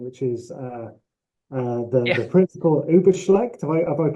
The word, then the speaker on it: Übelschlecht: credited with playing, which is the Yeah, Principal Übelschlecht. Have I yeah, pronounced that Principal correctly? Übelschlecht, yes.